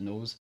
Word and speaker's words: Knowes: come to terms that i've mispronounced it my entire life because the entire rest of the world pronounces it knows and i even catch